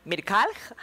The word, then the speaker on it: Mrkalj: Muy bien, está con nosotros Mirkalj, algo así se pronuncia.